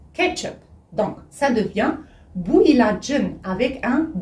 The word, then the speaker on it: ilacın: Alors, vous savez qu'ici, ilaç, normalement, ça s'écrit avec un Ç qui veut dire médicament. Mais ici, puisqu'on a ajouté après une voyelle, le Ç est devenu J.